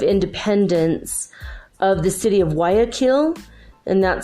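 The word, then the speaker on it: Guayaquil: the day of Independence of the city of Y akin and that spell GU a Y a Q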